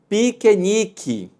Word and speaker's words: piquenique: som ainda Além disso Observe aqui na palavra piquenique Nós temos duas sílabas quer quer e quer mais interessante que na fala quando a gente lê a gente pronuncia ter quer o que veja que o primeiro quer da intenção de é e o último vai ter som de ir mas se escreve é